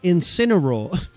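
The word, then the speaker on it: Incineroar: No, you're saying it wrong. It's Incinor. Oh, Alex, if only this was rage.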